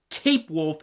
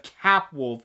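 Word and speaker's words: Capwolf: it the fact that md kept mentioning cape wolf instead of cap wolf of the pronunciation of that character's name who the says cape wolf anyways let's continue on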